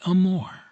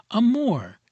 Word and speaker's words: amore: from that connoted by amore. Amore. You fairly sing the second syllable in a baritone voice from the chest with a little throaty tremolo on the surface to make it sound more palpitating.